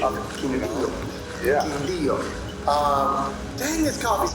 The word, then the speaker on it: Quindío: Quindío. Thank you, Franklin, for teaching us how to do the pronunciation of Quindío.